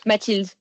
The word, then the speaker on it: Mathilde: How do you pronounce it, by the way? My name. Yes. Mathilde.